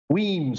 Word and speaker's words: Wiens: Kyle, please pronounce your starts with Wiens. Wiens.